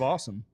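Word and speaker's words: Asim: Well, speaking of awesome. I'm about to. Is that how you pronounce it? It is awesome. That's a sweet first name. It's spelled A-S-I-M, but Awesome Richards is going to be your starting left tackle today.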